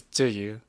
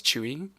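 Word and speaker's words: Tzuyu: Uh, my my bias is Do You. Or I always pronounce her name like the Taiwanese way. Although I know like some people like to pronounce it as Chewy, but yeah.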